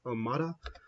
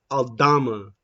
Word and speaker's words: Aldama: I feel like for that Kyle Anderson, is it Almada? Not Almada. Pronouncing his name wrong. I feel like I think it's Concha. No, not Concha. Yeah, Aldama. Santi Aldama.